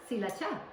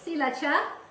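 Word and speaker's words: ศรีราชา: is from Thailand and actually it's not called Sriracha in Thailand it's called cacha that's how my mom pronounced it so cacha some tomato puree rice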